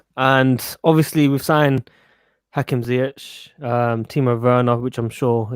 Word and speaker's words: Ziyech: And obviously we've signed Hakim, Ziyech, Timo, Werner, which I'm sure you're very excited.